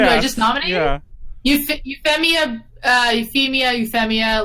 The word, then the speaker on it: Euphemia: Euphemia Lee Britannica. Wait, how do you spell that? Just everyone calls her like nope. EUPHEMIA. Like like Euphoria. Oh, Euphoria, that works too.